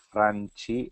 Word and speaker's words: Franchi: Franchi, se los pronunciamos a la Argentina.